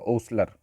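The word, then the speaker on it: hostler: ये ई नहीं मिला, अब इसका प्रोनाउंसिएशन होगा ओसलर। तो ओसलर किस जो है आप इसको जो है इसका जो प्रोनाउंसिएशन हो रहा है ये आप ओ से कर रहे हैं।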